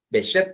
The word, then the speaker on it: Behçet: Behçet creo que se pronuncia eso. Es una C esa C que tiene una colita abajo, es un apellido turco.